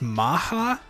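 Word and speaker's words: Macha: So this is, I believe that's pronounced Maha. I don't think there's actually a CH sound in it.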